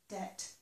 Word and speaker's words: debt: And notice that this word here does not have the B pronounced. So we pronounce this as if it were just D-E-T, debt.